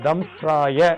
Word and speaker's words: தம்ஸ்ராய: உச்சரிக்கணும் நரசிம்மாய வஜ்ர தம்ஸ்ராய இதுல இத்து ராயா இருக்கும் இஸ்ன்னு போட்டிருக்கோம் இதுல தம்ஸ்ராய அப்படின்னு உச்சரிக்கணும் தம்ஸ்ராய வஜ்ர தேகாய வாசுதேவாய ஸ்வாஹா